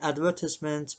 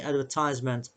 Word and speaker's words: advertisement: In the United Kingdom, people say advertisement, but in the United States, people say advertisement.